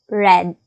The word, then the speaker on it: read: Answer is had read. Had read. Same spelling but different pronunciation.